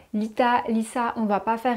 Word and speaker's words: Litha: Alors l'Ita, en réalité, ça se prononce Lissa. L'Ita, Lissa, on ne va pas